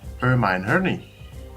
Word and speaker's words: Hermione: But they said that in the fourth movie, Goblet of Fire, she actually says is pronounced Hermione.